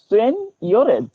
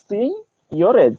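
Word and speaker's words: seigniorage: আর একটা জিনিস তোমাদের বলেছিলাম যে সিনিয়রেজ, ওকে, SEIGNIO RAGE, এই এর মানে উচ্চারণটা অদ্ভুত হলেও এর অ্যাকচুয়াল উচ্চারণ হবে সিনিয়রেজ। ওকে, সিনিয়রেজ, এই SEIGN, এই জিটার মাঝে মাঝে ইংরেজিতে কোনো ওয়ার্ড উজ্জ্ব থাকে, তো এখানেও সিনিয়রেজ।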